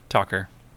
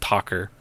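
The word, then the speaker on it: Tauchar: name okay um Celeste I think it may be pronounced talker t a u c h a r hence why they go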